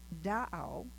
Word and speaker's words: Da'au: Now, the name Tahoe is actually a mispronunciation of the Washoe word Da'au, which means lake.